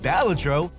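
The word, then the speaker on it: Balatro: To start, while the name remains a topic of debate, it is pronounced Balladro according to this trailer and it is a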